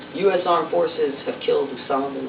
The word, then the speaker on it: Osama: to mention is that his name is pronounced Usama not Osama that's a trick to get everybody to confuse president OS Obama right if you say Usama you'll never confuse it